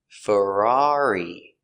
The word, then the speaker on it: Ferrari: Pronunciation of Ferrari. Fur fur a frer Ferrar E. Ferrari. Ferrari. Stress on the second syllable.